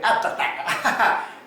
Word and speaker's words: abstract: ที่ เขา เรียก ว่า abstract หรือ แอ stack แอ stack ก็ ได้ abstract ก็ ออก เสียง แบบ ฝรั่ง ออก เสียง แบบ สำเนียง ฝรั่ง สำเนียง ไทย ก็ ประมาณ นั้น นะ ครับ ท่าน วาด ได้